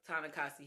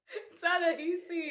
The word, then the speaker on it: Ta-Nehisi: Ooh, shout out to Ta-Nehisi Coates. I know. I know I said it wrong. Ta-Nehisi. Oh. It's an H.